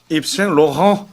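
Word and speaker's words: Yves Saint Laurent: 그거를 제대로 프랑스식으로 원발음으로. 발음하면 입생 로랑.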